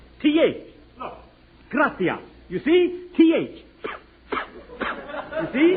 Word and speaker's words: gracias: simple spanish phrase read it please okay mooches gracious amigos no no no not gracious that word is gratias you see in spanish the sea is pronounced th oh gracias you see th you see would you mind